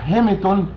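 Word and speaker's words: ἱμάτιον: طيب الكلمة الثانية حضرتك اللي هي مترجمة عربي رداء، بتاخد في اللغة اليونانية جي يعني يوناني 2440 وتنطق هيميتون، والكلمة تعني الملابس الداخلية.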